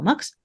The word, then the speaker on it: Mx: much newer and that's MX pronounced by some people mix pronounced by some people MX just want to check